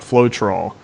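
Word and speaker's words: Floetrol: a product out there similar to retarder called float roll the thing is hat is how it's pronounced and it simply does the same thing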